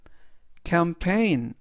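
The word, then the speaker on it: campaign: 이번 단어에서도 이 들어 있고요은 우리말로인 그래서 전체적인 발음은 캠페인 캠페인 캠페인이라고 발음하시면 되겠습니다 품사는 명사 뜻은 캠페인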